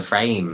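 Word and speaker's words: Frayme: by Stella McCartney and it is called the framing bag it's spelled like frame but then they added a y so I'm like the frame bag for me this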